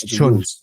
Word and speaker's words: Can: It's Chun. Chun. Oh, yeah, Emre Chun. Yeah, Emre even though there's no U. Yeah, even though there's no U in it.